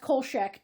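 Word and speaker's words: Kolchak: Um, but cast Darren McGavin as Carl Kchack or I've heard it pronounced Colchack too.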